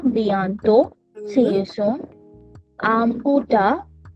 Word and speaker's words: au revoir: au revoir au revoir revoir au revoir See you later. au au au re au re voir au re voir au revoir